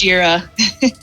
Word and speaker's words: Jira: It's pronounced Jira.